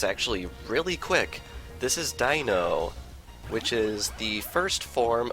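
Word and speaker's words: Deino: difficulty pronouncing this thing I like to try and pronounce it Dino because this evolutionary line is puns upon numbers 1 2 and 3 in German lacking sight it's unaware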